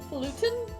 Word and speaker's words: falutin: Archer apparently says it's pronounced falutin.